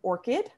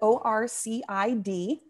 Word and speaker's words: ORCID: that is called an orchid uh not like the flower um uh but orcid so orc id is another way that it's pronounced um and that's an